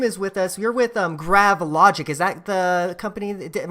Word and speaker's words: Gravilogic: You're with Gravilogic. Is that the company? Am I pronouncing that correctly? Yeah, that's fine. Yeah, Gravilogic.